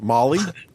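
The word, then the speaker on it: MOLLE: always pronounce this wrong is it molay or Molly Molly I have one of those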